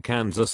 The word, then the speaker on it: Kansas: They are pronounced differently because the Kansans took the French pronunciation of the word and the Kansans took the Spanish pronunciation.